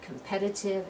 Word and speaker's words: competitive: slide competent we have competitive and competition so competent as that first syllable one competitive the second syllable one competition is the third syllable one so here we go